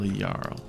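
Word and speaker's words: Jarl: It's J A R L. They spell Yarl.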